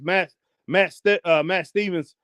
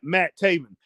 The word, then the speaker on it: Matt Taven: Matt Stevens. No, man. What in the world am I saying? I'm saying his name wrong now. Oh, Matt Taven showed everyone his power